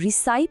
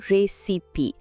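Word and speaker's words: recipe: আবার রেসিপি শব্দের উচ্চারণ অনেকেই রিসাইপ ভেবে ভুল করে, কিন্তু আসলে ওটা হলো রেসিপি।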